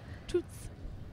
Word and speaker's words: Toots: Toots.